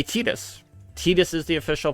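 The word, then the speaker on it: Tidus: main character from Final Fantasy 10 which is Titus uh even though in game and in Kingdom Hearts they say tetus tetus is the official pronunciation of that character's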